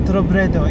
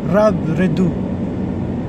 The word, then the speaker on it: Robredo: By the way, I want to share that the correct pronunciation of Leni surname, it's not Robredo, it's actually Robredo.